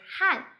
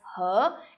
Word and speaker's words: 和: Here I would like to point out the pronunciation 和 he second tone 和. It is a pronunciation that is often used in China, but in Taiwan you might hear people say 汉, so which is the same word that has different pronunciation. In China it's 和 and in Taiwan is 汉, H-A-N 4 tone.